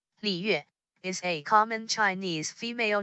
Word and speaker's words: 李月: When a circumstance emerges, When a word with the third tone is followed by a word with a fourth tone, the third tone is pronounced in half.